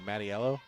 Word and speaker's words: Mattiello: So we're going Mattiello? Yes. Okay. There is an I. Because that's how she pronounces it.